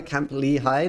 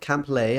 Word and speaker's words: Camp Lehigh: me a play Lehigh Camp Lehigh not camplay I always pronounce it